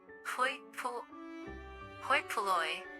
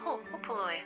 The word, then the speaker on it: hoi polloi: Holy Polly pronunciation. Hoi polloi. Hopoloi. Hopoloi.